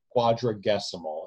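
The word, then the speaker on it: Quadragesimal: period by the way I wanted to issue a public correction I mispronounced that word in an earlier video I'm just correcting myself now Quadra decimal it means relating to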